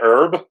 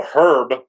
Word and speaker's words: Herb: realized, yet again, that everyone in Britain pronounces the H's like at the beginning of certain names. And I'm like, isn't it Herb? And he's like, no, Herb with an H.